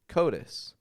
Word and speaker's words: coatis: Notice the flap T in there. Coatis.